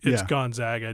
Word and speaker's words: Gonzaga: stop the interview and go, I'm sorry, it's Gonzaga, just to make sure that's how you pronounce.